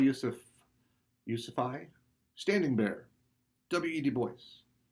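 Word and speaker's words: Du Bois: yusufy standing bear w.e.d boyce that's actually how he pronounced his own name we would normally pronounce it dubois but it's his name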